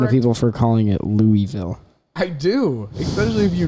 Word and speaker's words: Louisville: Branson we went to Louisville, Kentucky, and then from Louisville, Kentucky. Guys, okay, here's the thing. It is Louisville, Kentucky. That's how it's said.